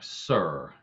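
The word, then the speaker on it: Cyr: Now, if you don't know what a Sir, and Sir is spelled C-Y-R, Sir.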